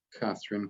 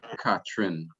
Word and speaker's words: Catherine: Sí, la mayoría de los trinitarios van a decir Catherine. Catherine. Pero no es o sea, ¿cómo te digo? Es más popular esa forma de pronunciarlo. La forma más correcta sería Catherine.